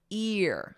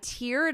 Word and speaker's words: tear: Ear. So I wrote it out phonetically for you. Ear. So that long E sound. I teared up when I watched the sad movie.